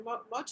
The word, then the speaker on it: motu: on your island on your mochu it might you pronounce it right yes you are matter of fact